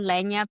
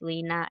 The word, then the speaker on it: Leña: So Instagram doesn't have the little tilde for the N. So instead of Leña Pizza and Bagels on Instagram is it will be pronounced, I guess, Lena, Lena Pizza and Bagels.